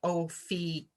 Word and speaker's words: Ophiuchus: I saw today that there's an alternate pronunciation, and now I'm going to blow it. Ophiuchus, something like that. So I'm going to stick with Ophiuchus because that's how I learned it.